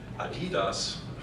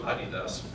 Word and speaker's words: Adidas: Companies like, you call them Adidas, we pronounce them Adidas, or Puma.